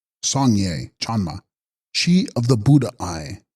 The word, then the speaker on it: Sangye Chanma: Text: Sangyas Spyan Ma, pronounced Sangye Chanma, she of the Buddha eye, or eyes.